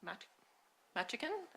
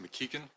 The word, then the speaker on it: McKean: Um it's pronounced Mckikin, but nobody ever gets that right. and you got as close as anybody could.